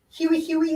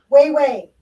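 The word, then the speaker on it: Hue-Hue: It looks to be Huey Huey. It is not Huey Huey. It is Way Way. So this is Way Way is the correct pronunciation of this cold.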